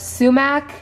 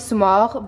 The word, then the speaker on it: sumac: We also have 2 packs of sumac. In Farsi we pronounce it sumac, but I know in America they call it sumac.